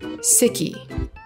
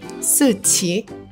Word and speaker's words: Siqi: For the longest time, I pronounced it as Siqi. Siqi. But after learning pinyin, I realized that it is in fact pronounced Siqi. Siqi.